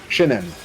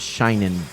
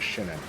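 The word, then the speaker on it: Shin'en: Shinen. Shinen. I always thought it was shinin, like shining. Yeah, I thought so too, but I thought I saw in an article it's Shinen. That makes perfect sense.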